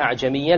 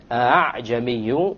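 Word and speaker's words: أعجمي: You don't pronounce it a full hamza, and you don't pronounce it as an alif, full alif. It is in between.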